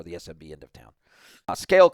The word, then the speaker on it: SCAYLE: Scale Commerce, spelled with a Y, SCAYLE.